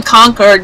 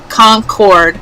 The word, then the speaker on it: Concord: and we are actually technically in conquered not Concord Concord you say it like that con not Concord otherwise you'd be in New Hampshire cord North Carolina right